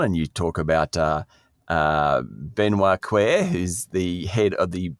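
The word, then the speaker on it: Cœuré: And then you go down and you talk about Benoit Quer, who's the head of the BIS Innovation Hub. Oh, no, Sean. Oh, go on. Coer. And he's spelt it out phonetically.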